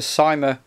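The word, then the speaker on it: Cyma: my favorite guns um it's a sima mp5 or sema however you want to pronounce it now this isn't an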